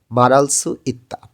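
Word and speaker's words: 말할 수 있다: যখন দ্রুত উচ্চারণ করবেন রিউল ভাতমের পরে যখন হিউত আসে তখন র টা শক্তভাবে উচ্চারণ হয় এবং এবং হিউদটা উচ্চারণ হয় না বললেই চলে তো উচ্চারণটা হয়ে যাবে মারালস ইত্তা মারাদা অর্থ হচ্ছে কোন কিছু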